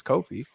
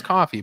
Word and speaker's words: Ko-fi: Finally, it's Ko-fi. Originally saw it as coffee, but Ko-fi themselves said Ko-fi. Yeah. So it's like Kofi Kingston, the rest. Thank God too. I thought it because was Ko-Fi.